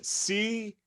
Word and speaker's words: Campagna: but it's not steve how do you pronounce c-a-m-p-a-g-n-a campagna it's my favorite yeah